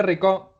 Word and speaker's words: Rico: Hola a todos, Rico, así es. ¿Cómo pronuncio tu apellido? Yo nunca sé. Así exactamente, Rico.